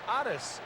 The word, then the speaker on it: Otis: balls and two strikes Otis Nixon is known as Otis Nixon in his home down of Evergreen North Carolina that is the way his father's name is pronounced his parents atis and Gracie no doubt